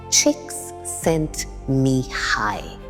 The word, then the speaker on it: Csikszentmihalyi: Pronounced Csikszentmihalyi.